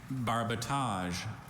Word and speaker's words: barbotage: I have just the one, barbotage.